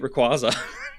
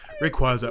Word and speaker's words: Rayquaza: Anyway, let's talk about number 8, Rayquaza. Rayquaza.